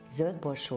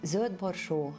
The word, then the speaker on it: Zöldborsó: regarding this dish called Zöldborsó Főzelék. Zöldborsó means green peas. If there are two dots, umlaut, on the O, we pronounce it Ö.